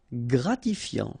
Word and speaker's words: gratifiant: Gratifiant. Same thing here. Final T not pronounced.